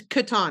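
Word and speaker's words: Catan: how you say it I think it's Katan because I watched an interview with the inventor okay and that's how he said it so we'll go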